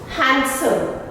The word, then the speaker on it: handsome: Handsome, handsome, not handsome, handsome.